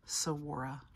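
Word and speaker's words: saguaro: be over 200 years old so wore it's pronounced there's no good sound in it even though there's a good in it sawora a cactus you see has deep pleats in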